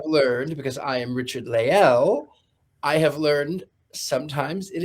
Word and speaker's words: Lael: Um I I do have to sort of overinunciate it because sometimes people think I'm saying Leo and I go no all hail Richard Le.